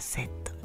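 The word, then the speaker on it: said: の過去形です SE の活用はセセセッセセセセドって書くんですが発音はセッドですね何度も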